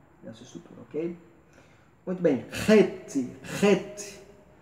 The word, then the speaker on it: het: Muito bem, het, tem um som do CH como em Bach, né?